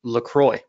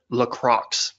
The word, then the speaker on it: LaCroix: you as long as you mix them with LaCroix or as I like to call it Lacroix just to annoy people you know that's actually pronounced Lacroix is it well I pronounce it Lacroix just